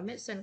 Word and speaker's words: medicine: Cô đọc, cô hay đọc là medicine, có hai âm tiết thôi, uống thuốc.